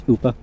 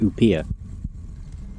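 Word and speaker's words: Upiór: I think it's Oopa. Just seeing it spelled out, I want to pronounce it Upia. Even though I know that isn't correct.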